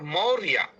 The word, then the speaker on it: मौर्या: वस्तुतः वह मौ के बाद र है और र के बाद य है और य के बाद फिर य है। और उस या के अंतिम ऊपर लिखा रहता है र। तो मोरया। उसका उच्चारण होता है मौर्या मौर्या दो तरीके से